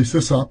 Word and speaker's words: SysOp: It's obviously SysOp because this is short for system. Right. System operator, SysOp.